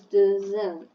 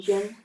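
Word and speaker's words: Dzin: And it's actually pronounced Jin.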